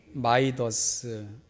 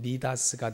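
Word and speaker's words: Midas: 한번 더 인사했으면 좋겠습니다 영어식으로는 마이더스라고 발음을 하고 그게 원래 그 그리스 신화에 나오는 이름이니까 헬라식으로 발음하면 미다스가 되는데요 이 미다스는 만지는 모든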